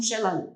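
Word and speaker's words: Xela: И буква X, которая читается как Ш, это вот из местных языков.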